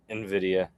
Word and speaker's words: Nvidia: Nvidia. Nvidia. Nvidia because all the gamer bros and all the Bitcoin bros are going to make a comment on this. It's Nvidia.